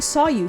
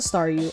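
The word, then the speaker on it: Staryu: was still just a Staru, I could never pronounce its name right. Oh, sorry. Oh, that's so cute. It always ended up sounding like saw you.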